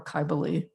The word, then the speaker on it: Kybele: And I have a statue here of, I'm going to use the Phrygian pronunciation and call her Kybele.